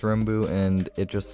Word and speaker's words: rmbu: a backstory it's just it's pronounced Ru and it just sounds